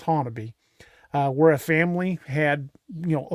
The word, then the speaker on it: Honobia: Honobia, Oklahoma, and yes, it's spelled Honobia, but it's actually pronounced Honobia, where a family had,